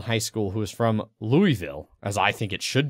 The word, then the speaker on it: Louisville: Or Louisville. Mm-hmm. Or Louisville. Louisville. Louisville. I kind of sort of dated a girl in high school who was from Louisville, as I think it should be pronounced.